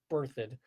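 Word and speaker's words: Berthoud: e r t h o u d it's pronounced birthd town of five 5,000 people pretty close to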